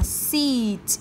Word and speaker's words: seat: Ok, các lưu ý cái này của cô sẽ đọc là seat y dài nhá. Và cái này của cô sẽ đọc là sit y ngắn, được chưa?